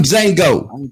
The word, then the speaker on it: Django: Right, I'm Django. The D is silent.